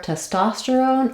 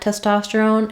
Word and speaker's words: testosterone: there but our first syllable test is not going to be stressed so T testosterone it could even sound like T testosterone um I do use more of an S sound there te testosterone because of how it's spelled but the important thing is that my ta is nice and clear and my other syllables are going to go by more quickly for a longer word